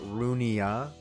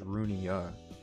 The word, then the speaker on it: Runia: Okay, so I've always pronounced it Runia. I don't know if that's how it's supposed to be pronounced, but yeah, I always pronounce it as Runia instead of like rune or like ruin or something.